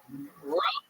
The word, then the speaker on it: Rhome: Rome, Texas. Yeah, I had to switch to order it, and it's RHOME, like our they spell it just to make it special.